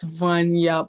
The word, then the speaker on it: Vanya: are pronouncing it correctly. Yes, it's Vanya.